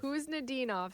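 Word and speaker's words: Khusnutdinov: is it's a silent it's a silent k who's ninov who's nenov so Meritt who's ninov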